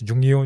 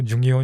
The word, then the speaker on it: Jungio: only place where they correctly pronounced my title. They did not call me by my In name. Mysore? Yeah, my Kannada teachers. So it's Okay. always Jungio, Jungio, Jungio.